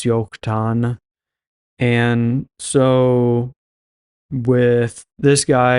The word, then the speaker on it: Joktan: to explain here again in Hebrew they don't have J's or a j sound so everything with a J is actually a why in Hebrew so it's yokan and so with this